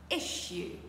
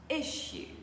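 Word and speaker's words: issue: etchier encore une fois etchier alors je sais qu'il y a deux S et qu'en français naturellement on dirait issu mais ici on va faire un son SH un son ch encore une fois pour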